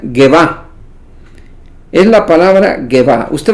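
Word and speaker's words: גאוה: Es la palabra que se pronuncia Gevá.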